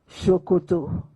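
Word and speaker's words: Ṣòkòtò: Shokoto. Written the same way, but pronounced S-O-K-O-T-O. Shokoto means trouser in Yoruba language.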